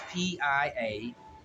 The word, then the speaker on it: Piaget: The T is silent. It's Piaget. Piaget.